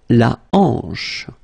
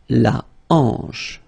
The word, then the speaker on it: hanche: La hanche. La hanche, remember, H here is not pronounced, so you get the sound en, hanche at the beginning.